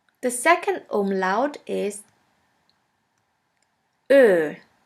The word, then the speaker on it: Ö: The second umlaut is Ö, Ö, or O umlaut. Ö is pronounced like the word flirt or the word girl.